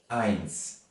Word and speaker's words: eins: Eins.